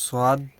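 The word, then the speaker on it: صاد: এখন যে হরফটা নিয়ে আলোচনা হবে সেটা হচ্ছে এই যে সদ সদ যেটা আমরা স ব দুইটা একসাথে উল্লেখ মনে করব আর কি বাংলায় স এর মত স এর মত।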